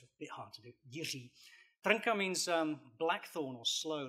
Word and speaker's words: Jiří Trnka: I'm actually here because I can pronounce his name properly. And you too can do this if you try. His name is Jiří Trnka. Now, that's very difficult. It's Jiří just means George in Czech.